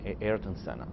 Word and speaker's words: Ayrton Senna: Am I pronouncing that? How do you? Ayrton Senna.